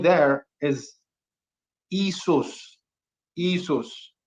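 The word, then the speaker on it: Ἰησοῦς: can't be more wrong so isus isus um is the Greek pronunciation we're going to get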